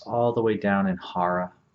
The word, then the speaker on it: Hara: the breath is all the way down in Hara Hara is spelled h-a-r-a and it literally trap translates from